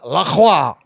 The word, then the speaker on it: LaCroix: Yeah, but what you just did right there is you just earned yourself a sponsorship with La Croix on the dot. LaCroix. It rhymes with boy.